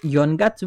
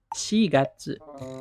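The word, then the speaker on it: 四月: Jadi, kalau bulan keempat, April, bukan Yongatsu, bukan, tapi Shigatsu.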